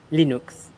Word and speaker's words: Linux: Obviously, Linux, which is how you pronounce it, Linux.